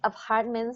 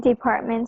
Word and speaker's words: department: And then you just mispronounced this word. You said in apartment stores? In department store? Right. Yes. Oh, I said apartment. You said apartment. Yes, department.